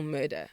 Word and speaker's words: Mörda: R D A but the pronunciation is still murder.